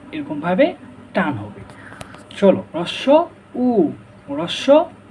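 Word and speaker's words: হ্রস্ব উ: চলো, রস্য উ, রস্য উ, রস্য উ এর সঠিক উচ্চারণ কি ভাইয়া? রস্য, এটাকে আমরা বলি রস্য রস্য, অনেকে বলে হস্য। এটা না, এটার সঠিক উচ্চারণ হবে রস্য উ, রস্য উ, রস্য উ, রস্য উ।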